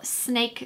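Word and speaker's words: Syn-ake: face and it's not it's just a product that's spelled sin like sy n - a ke so it's just cool to say snake but this was such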